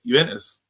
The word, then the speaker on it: Juventus: I think it's a silent J. Wait, how do you say it? Juventus. Juventus, yeah. Juventus, bro. It's not Juventus, is it? Is it not that? It's never been Juventus. Not to us in England.